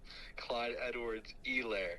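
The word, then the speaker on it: Clyde Edwards-Helaire: Clyde Edwards. Elair. Okay. Nice. All right. Thanks, Jake. Um, wow. Why did you Why you pronunciation shamed me?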